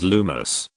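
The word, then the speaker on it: Lumos: The spell is lumus. Pay attention to the pronunciation which must be standard.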